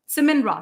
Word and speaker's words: Siman Ra: They call him Simon Ra or Siman Ra? Siman Ra. They call him Siman Ra. Siman Ra. For some reason, they pronounce it that way.